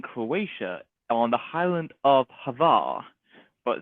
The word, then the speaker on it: Hvar: We spent like a whole week in Croatia on the island of Hvar, but it's pronounced Hua.